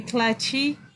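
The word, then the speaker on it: cliché: Actually, the pronunciation is Cliche. Cliche. Okay. K-L-I with an alarm bar, and then like this shape, and then act. So that's we call that Cliche.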